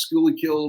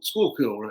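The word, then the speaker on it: Schuylkill: he's born on the how do you say that Jameson is schoolly kill River School Skool kill how they say that river outside of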